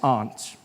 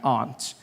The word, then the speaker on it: aunt: For instance, I pronounce the opposite of uncle as aunt. I say my aunt. Out here you say my aunt. Which to me is an insect.